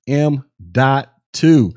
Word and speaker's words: M.2: talk about m.2 drives and yes it is pronounced m.2 and this is an ssd that looks like